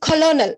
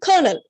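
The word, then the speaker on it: colonel: இதை நம்ம வந்து கொலோனல் அப்படி ப்ரொனவுன்ஸ் பண்ணக்கூடாது. அப்படி ப்ரொனவுன்ஸ் பண்ணோம்னா இது கோ, லோ, நே, அப்போ 3 அப்படின்ற மாதிரி வரும், 3 syllable வேர்டு மாதிரி வரும். பட் இதோடைய ஸ்பெல்லிங் எப்படி இருந்தா கூட இதோடைய ஆக்சுவல் ப்ரொனன்சியேஷன் கர்னல்.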